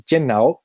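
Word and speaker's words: 电脑: contrairement à genre 90% des langues, ne se prononce pas computer, ordinateur, ordinateur, enfin voilà. Il se dit tiannao, et tiannao en mandarin, ça veut dire cerveau électrique.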